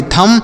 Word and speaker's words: THUMB: THUMB तो इसे क्या पढ़ेंगे, TH से थौ पढ़ेंगे, U का उच्चारण नहीं होगा, यम से म पढ़ेंगे, B का उच्चारण नहीं होगा, यानी B यहाँ पर साइलेंट है और U भी साइलेंट है तो इसे पढ़ेंगे थम। और थम मतलब होता है अंगूठा, बहुत सारे लोग इसे पढ़ते हैं थंब है, थंब नहीं आपको पढ़ना है, थम पढ़ना है।